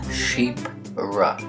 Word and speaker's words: Chypre: Yes, it's pronounced Chypre. Now this group was named after a perfume created by Françoise Coty, basically just called Chypre.